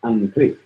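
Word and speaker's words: อังกฤษ: But then a lot of times R's are pronounced more like L's, so it'd be like Angli.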